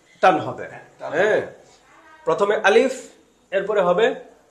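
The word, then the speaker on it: ألف: আমরা অনেক সময় বলি যে আলিফ এভাবে বলি, কিন্তু আলিফ উচ্চারণটা খুব দ্রুত হবে, আলিফ।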